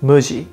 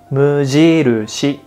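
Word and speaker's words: 無印: what's funny is that we never call it muji in japan we say mujiru shi mujirushi i understand muji is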